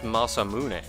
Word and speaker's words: Masamune: I would always see that as Masamune, but, like... with the Japanese phonetics, that would be pronounced Masamune.